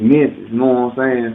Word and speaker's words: Memfyz: And I created that more smoother so people be like, okay, I feel them, because we don't say Memphis, it's Memphis.